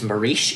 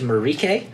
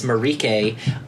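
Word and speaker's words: Mariche: I had said that Jesse Buckley's character is marish it is spelled Maurice her name is pronounced marike so Jesse Buckley's marike she is a very adversarial character she's like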